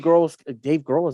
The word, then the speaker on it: Grohl: Just Dave Grohl.